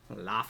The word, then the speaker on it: Laufey: Laufey. I think you're right because she's like Icelandic. It's like Yeah. the same thing as like Bjork, or you say her Yeah. name. But Okay, yeah, cool. No, Laufey.